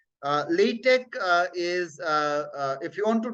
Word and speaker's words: LaTeX: LaTeX also is there, but for literature people, LaTeX, it is not X, but K sound is there. LaTeX is how it is pronounced. LaTeX is, if you want